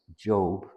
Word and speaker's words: Job: And I pronounce it as Job.